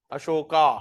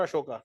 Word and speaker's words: अशोक: लोग क्या बोलते हैं अशोका इट्स नॉट अशोका इट्स अशोक Rama okay it's अशोक okay अशोक Khanak Khanak